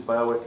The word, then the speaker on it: Berwick: when we come to uh towns such as berwick and and by the way we pronounce it as eric in england so when i first said i'm going to work at barrick everyone looked at me and said where's bailey